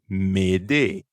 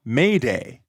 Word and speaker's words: m'aider: Fun fact, m'aider is actually the origin of the radio distress signal Mayday. But don't pronounce it like that. Instead of that English A sound, the French vowel is shorter. E. M'aider.